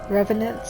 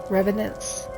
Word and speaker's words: revenant: say that word how do you say it Revenant Revenant or skeletons the agility and fighting ability of